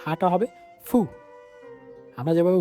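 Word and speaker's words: ふ: একটু ডিফারেন্ট সেটা হচ্ছে জাপানিরা হু ওভাবে উচ্চারণ করে না হাটা হবে ফু আমরা যেভাবে হু বলি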